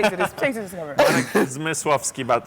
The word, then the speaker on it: Zmyslowski: Okay, for the rest of people, you have to pronounce that name yourself. It's Marek Zmyslowski. Please say to this camera. Marek Zmyslowski, but it's better to call me, I'm serious.